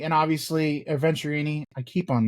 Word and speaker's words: Venturini: gotta see this place um we talked about venerini and obviously venturini I keep on mispronouncing it we've talked about venturini and the